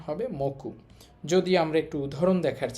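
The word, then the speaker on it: 目: এইভাবে আপনি পুরো তিনটা অর্থ একটা বাক্য আকারে মনে রাখতে পারেন।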